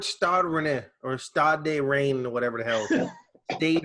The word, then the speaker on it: Rennes: Rennes.